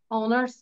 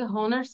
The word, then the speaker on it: honor: অনেকে হাওয়ার বলছি, অনার্স বলছি। It's আমি honor. honors হ্যাঁ, অনেকে হনার্স বলতেছি। উচ্চারণ হবে না? এটা হয় এর উচ্চারণ হবে না। অনার, অনার। Don't pronounce H.